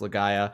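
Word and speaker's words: Legaia: from Legend of lagaya I believe it's pronounced leaya it's the just called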